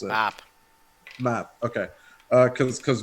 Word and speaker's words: Mab: mispronounce it. Map.